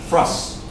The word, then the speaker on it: for us: And let's pronounce this For us. Real fast. Put together. Frus. You almost don't hear the O sound. It's almost like frus. Listen to that.